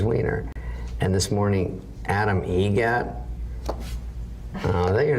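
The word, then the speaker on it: Eget: Adam Egget. Egget. Spelt differently. Like the bird. That's Egret.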